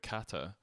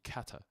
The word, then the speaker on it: kata: know what kata is, it's a hard one for Scots to say because any T's in the middle of a word or at the end, we usually miss out. So I'm trying to say it properly.